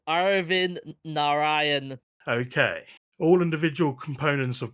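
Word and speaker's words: Arvind Narayanan: sorry I'll I'll just I'll pronounce it for you it's Arin Naran okay all individual components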